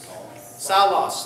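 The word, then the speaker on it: Σαῦλος: So if it starts with sigma and it rhymes with Paulos, it would be Salos, and it's the name Saul.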